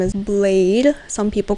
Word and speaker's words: Bladee: I have to admittedly say that I first called him Bladee. But then I educated myself and I was like, oh, it's actually pronounced Blade.